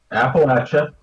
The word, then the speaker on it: Appalachia: nothing that w't nothing it's pronounced appalache because it's like someone's throwing an appalache appacha I mean that's